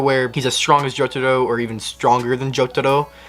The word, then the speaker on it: Jotaro: And I was like, it's Jotaro. Yeah. Ro, not Ro. No, Jotaro. Jotaro. Jotaro Kujo. If you say it like that, you're good.